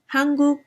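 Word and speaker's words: 한국: they can be written the same way the pronunciation is slightly different hanguk and then if you look at japanese it's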